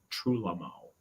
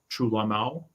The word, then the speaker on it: Trúlögmál: go to the Ásatrú Trúlögmál, it's got a virtually silent G in the middle there, just in case you're typing it in.